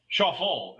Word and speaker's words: Schauffele: And really, if you look at Xander Schauffele's Schauffele is how he pronounced his name when introduced. So I guess we've all been wrong.